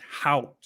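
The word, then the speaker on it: Haut: with the uh vocabulary it's h-a-u-t so it's hot out that's how you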